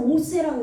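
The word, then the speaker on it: עֹשֶׂה: 여기서는 오세라고 읽어야 되는데 점이 위에 찍혔으니까.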